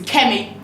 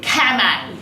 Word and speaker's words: Kemi: My Nigerian name is Kemi, but they pronounced it Kame.